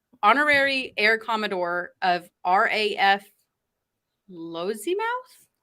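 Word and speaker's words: Lossiemouth: how they look honorary air commodore of raf lozy mouth lozuma that sounds fine l-o-s-s-i-e-m-o-u-t-h glossy mouth where's our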